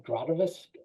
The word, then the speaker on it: gravitas: So I think automatically gave it, I gave it its, the grativus, Gravitas.